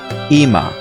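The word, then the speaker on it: אמא: dot below the olive what you're looking at is the hedik which when pronounced that olive you know that you're supposed to say e as in that double e sound so it would be ima if you want to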